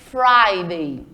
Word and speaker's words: Friday: e falar o dorsday Friday é escrito como Friday mas quando a gente pronuncia coloca um som de ai nesse I Friday certo e contar um sábado